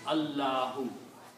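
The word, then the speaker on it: Allahu: Alahu when it is written together it sounds allahoo.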